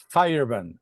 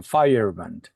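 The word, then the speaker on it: Feyerabend: Fire. Fireband, así es que se pronuncia, Fireband, así es.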